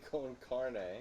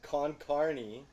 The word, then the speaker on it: con carne: con Carney cheese chili con carne what did I say con Carney all covered with chili con Carney wrong wait con carne oh carne it's not